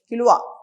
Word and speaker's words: Kilauea: How to pronounce it? Kilauea.